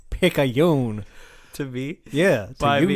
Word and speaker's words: Picayune: It's Picayune. To me? Yeah, to you, sir. Why me? You pronounce that paper right, son, right now.